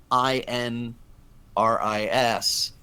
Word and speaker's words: INRIS: that and I'm like that works because you can pronounce it and it naturally is derived from the title of the blog and so from that